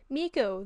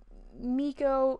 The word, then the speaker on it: Meko: I always explain the pronunciation for my name by saying that it's pronounced like Miko, the raccoon from Pocahontas, and I've kind of inadvertently become a raccoon. So, necromancer, archer, that's dope. Miko, it's, yes, spelled with an E, it's like M-E-K-O.